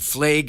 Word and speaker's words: Flaig: firm is WWF league law firm calm and flag is spelled hal f as in Frank L AIG